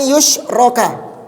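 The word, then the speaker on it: يُشْرَكَ: Jadi, an yusyroka, dibacanya ka ya. Jadi, sesungguhnya Allah tidak akan rida disekutukan. Berarti dibaca majhul, pasif.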